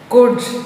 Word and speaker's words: could: Could, L is silent.